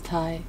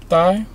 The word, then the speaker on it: Thai: I thought it was Thai. It's Thai. Thigh? You sound like you have a speech impediment. I had the thigh chili ribs. It's Thai.